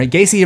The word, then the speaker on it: Gacy: And no, having a name that rhymes with Jaycee is not required, that's just a coincidence. A year later, Gacy reportedly picked up 15-year-old